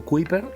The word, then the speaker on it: Kuyper: Se escribe Kuyper, con K e Y, y Abraham Kuyper, o Kuyper, es quien de alguna manera